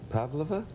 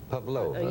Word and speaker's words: Pavlova: incident with, was it Pavlova? Pavlova. Pavlova, you mean of course. when accent the second syllable.